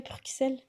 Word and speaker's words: Bruxelles: est-ce que ça ressemble à comme un peu, entre grosses guillemets, Bruxelles?